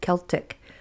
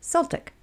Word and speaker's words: Celtic: Some folks say it with a hard K sound, right? Celtic. And some say it with an S sound, Celtic.